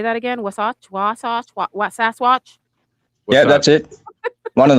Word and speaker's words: Wasatch: Wasatch? Yeah, that's it. One of those. Well, one of those. We'll go with that. What is that, Muppet? Wasatch.